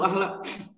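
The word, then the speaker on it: أهلَ: Ahlu ahla. Ahla. Ahla ya, karena ada jadi maf'ul bih dari da'a.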